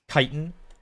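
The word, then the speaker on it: chitin: It's not Itch or maybe it's like that word um you know the word kiten. C h i t i n. Kitan. I think that one is I hear people pronounce that as Chitten a whole lot. Chittis, but I'm pretty sure it's Kitan Eore.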